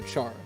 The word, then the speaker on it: Char: Any pronunciation of my name is fine since I've heard it all, but pronounce like charred ember. So char.